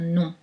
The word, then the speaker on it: nom: donc là faites attention le verbe c'est un homme mais le non c'est non avec juste deux semaines 1 et 1 ne prononcez pas le m d'un nom la distinction poyet l'oral